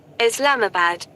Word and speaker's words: Islamabad: Let's see how to pronounce Islamabad. Is it Islamabad? Islamabad.